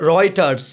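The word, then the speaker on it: Reuters: এরপরে আমরা দেখতে পাচ্ছি রয়টার্স, রয়টার্স, এটা কারেক্ট স্পেলিংয়ের জন্য ইম্পর্ট্যান্ট, তোমরা পড়বা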